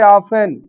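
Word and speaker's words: often: अगर टी से पूर्व एस आया है, एफ आया है और बाद में इ एन दिया है। वहां टी साइलेंट हो जाता है। जैसे ऑफेन ऑफेन होता है बहुधा लिसन।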